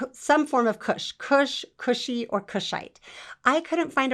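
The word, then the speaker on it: Kushi: um the word is kush well it's cushy which actually means a descendant of kush and in in the greek we spell it k-u-s-h-i it's greek letters which it's greek to me i don't know what the greek letters mean but the transliteration is cushy which means descendant of cush so this same greek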